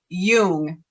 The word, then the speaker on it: Jung: can you say pronunciation i believe the proper pronunciation is young but i am not